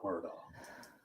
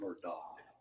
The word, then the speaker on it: Murdaugh: our honor to represent Alec Murdoch from her dog depending on how you pronounce it I say it's